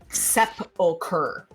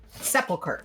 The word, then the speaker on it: sepulcher: carried away, it is, according to the Oxford English Dictionary, sepulcher. Sepulcher. Oh, okay. I was saying it right. Yeah. And apparently in Nice. British English, you would say sepulcher.